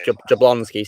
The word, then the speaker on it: Jablonsky: I forgot how you pronounce the surname. Steve Jablonsky. It's Jablonsky, Steve Jablonsky.